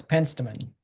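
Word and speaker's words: Penstemon: Hey Andy, how do you pronounce that? Pensamman or Pen Stemon? It's Pensamman.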